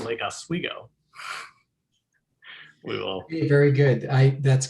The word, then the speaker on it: Lake Oswego: There's only one thing I feel like we can teach to you, and that is that we pronounce it Lake Oswego.